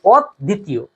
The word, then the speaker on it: অদ্বিতীয়: এরপরে দেখো অদ্বিতীয়, অদ্বিতীয়টা শব্দটা হবে অদ্বিতীয়, ব ফলা থাকলে শব্দটার দ্বিতীয় উচ্চারণ হয়, সেই জন্যই শব্দটা হবে অদ্বিতীয়।